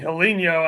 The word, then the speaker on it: Helinho: play no he's he's I think he's saying helinho as in like hello but Brazilian but I could be wrong no that's definitely how they say it in Brazil all right next